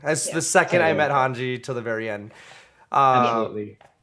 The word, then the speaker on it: Hanji: pronounce her name um i heard honky honky because i read it first i pronounce it yeah but then then the manga and the anime it's hanji hanji which makes which makes